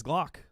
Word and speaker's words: Glock: And next we got Miss Glock. Which rhymes with cock. Not Miss Cock.